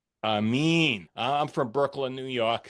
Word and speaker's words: Aramin: I'm here with Robbie Demolin and Aman. I mean, they are both I pronounced your name wrong. And Amin, I'm from Brooklyn, New York, so you got to excuse me, of course.